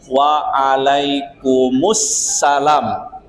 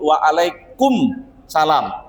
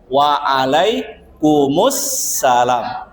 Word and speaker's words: waalaikumussalam: Kalau misalnya diucapkan salam, kalau diucapkan salam ya agar salamnya itu benar, maka jawab dengan waalaikumussalam, ibu-ibu ya. Jadi mimnya jangan disukunkan, jangan dimatikan, jangan sebut waalaikum salam, tapi jawaban yang benar waalaikumussalam.